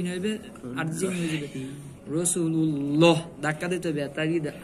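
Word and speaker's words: رسول الله: আল্লাহ শব্দের ডানে জবর, এখানে উচ্চারণ করতে হবে রাসূলুল্লাহ।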